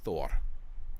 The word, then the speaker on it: Thor: let's say, for example, the name Thor, or you can say Thor. I speak a little Icelandic, so I'm trying to use Icelandic pronunciations, as butchered as they are.